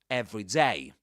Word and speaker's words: every day: Usually the stress goes on day. So you say every day.